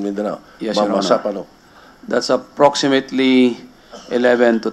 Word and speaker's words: Mamasapano: Mamapano. That's the way they pronounce it in Mindanao. Mamasapano.